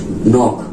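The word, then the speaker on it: knock: क्या होगा साइलेंट होगा जैसे की एग्जांपल में देख लीजिए नोक ठीक है नाक में आपका देखिए एन से पहले से पहले के है तो वो आपका क्या है वापस साइलेंट है ठीक है नीड नीड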